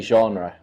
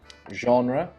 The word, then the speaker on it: genre: you're from I say genre so it's more like a ah it's more French I guess more nasal genre some people say the